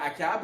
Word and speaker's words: Achab: Il a donné sa fille en mariage en alliance au roi Akab, ou Achab, dépendamment comment vous voulez le prononcer, fils d'Omri, donc le roi d'Israël.